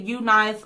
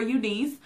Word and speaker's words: UNICE: even body wave so the company I am talking about is you nice or you you can pronounce it you nice or unce and look how cute